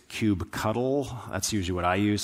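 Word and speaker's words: kubectl: be the cube cuddle now depending on who you ask this is pronounced different ways i've had some people insist to me no no it's cube control others say well i always spell it out cube ctl some people are fight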